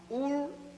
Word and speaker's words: Ur: Abraham was born in the city of Ur in Chaldea. It is spelled U-R, Ur, and Chaldea is spelled C-H-A-L-D-E-A.